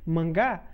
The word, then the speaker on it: manga: tem obviamente outros significados em japonês por exemplo manga pronuncia-se mangá é revista em quadrinhos